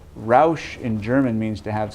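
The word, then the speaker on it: Rauch: say Ralph cannot Roush it's spelled our au CH but Roush and German means to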